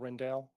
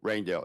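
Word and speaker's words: Rijndael: And it's named after a fellow named Rendell, Yes. but it's spelled, it doesn't, Raindell, yes, he's Indian.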